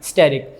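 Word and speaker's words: asterisk: ए इसका साइलेंट होता है, स्पेलिंग में ए आता है, वैसे बोलने में नहीं आता है, स्टेरिक।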